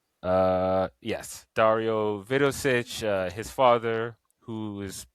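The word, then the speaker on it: Dario Vidošić: uh um oh man I always get his name wrong. Let me make sure I get his name right. Uh yes, Dario Vidosich.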